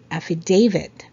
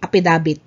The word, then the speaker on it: affidavit: Affidavit. So it's not apidabit. Okay? It's affidavit.